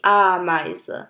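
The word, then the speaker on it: Ameise: আরেকটা example D আমাইজ, তার মানে দ্য অ্যান্ট, পিঁপড়াকে আমাইজ বলা হয়, ডি আমাইজ। সো ই আই একসাথে থাকলে এটার প্রোনাউন্সিয়েশন হয় আই আই, যেমন ডাস আই বা ডি আমাইজ।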